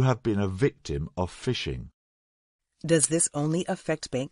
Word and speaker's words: phishing: we should explain that even though the pronunciation is the same this variety of phishing is spelt with a pH and not an F right phishing is quite